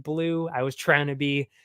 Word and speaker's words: BLÜ: nunes very much confident why is there two two dots above my name very good question that's just the way i like it because technically it's still pronounced blue i was trying to